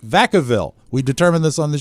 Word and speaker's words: Vacaville: I believe the town in California is pronounced Vacaville.